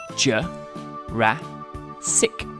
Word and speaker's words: Jurassic: years ago in the Late Jurassic period Jay rat sick this was the same time period as Brachiosaurus